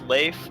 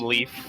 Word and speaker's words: Leif: Just remember, if you ever see it spelled with an I, guys, it's Leif. Just do yourselves a favor. Don't call him Leaf.